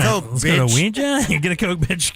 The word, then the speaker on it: Ouija: The one I thought that would get everybody is the Ouija board.